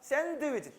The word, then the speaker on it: 샌드위치: 샌드위치도 마찬가지야. 샌드위치 드가 발음이 나오면 촌스러워. 드 하지 말고 드 할 때 혀 끝이 윗니빨 뒤에만 대. 샌드위치 이렇게 알았지, 그죠?